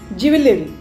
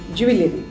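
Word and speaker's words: jewellery: Jewelry. आपका collection. Jewelry. चाहे oxidised के हो या सोने के हो या चांदी के हो, ज्वेलरी. इट इज नॉट ज्वेलरी, इट इज ज्वेलरी.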